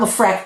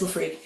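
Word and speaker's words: LeFreque: And it is pronounced Lafre, not Lafre, please people. It is Lafre.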